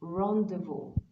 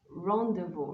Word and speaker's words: rendezvous: with words like this but in english this word is rendezvous rendezvous remember i talked about it during my lessons on silent letters all right let's move